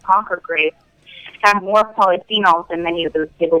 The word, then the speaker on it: polyphenols: is the uh do I have a correct pronunciation the polyphenols is that it yeah that's right so pools